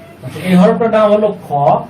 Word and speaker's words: خ: আচ্ছা, এই হরফটার নাম হলো খ। এটা হবে চিকন হবে, শ্বাস চালু থাকবে। খ। মাত্রা 3 অনুযায়ী এটাকে আমাদেরকে উচ্চারণ করতে হবে।